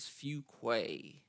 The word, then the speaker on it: Fuquay: Michaela Fuquay and I apologize for saying her name wrong a few times but it is Fuquay so we've got the ball State coach and